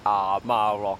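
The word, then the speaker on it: Amah Rock: 其實咧，嗰個正確讀音係阿媽 rock，知唔知點解係阿媽咧？因為阿媽孭住個仔。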